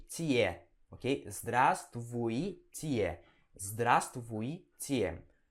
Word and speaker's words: здравствуй: Zdra, né? Zdra, letra Z aqui. Zdra. Aí vem o S. Zdras. Zdras. Aí vem tvui, né? Tvui. Tvui. Здравствуй. Здравствуй. Ok? Здравствуй. E aí vem o tie, ok? Здравствуйте.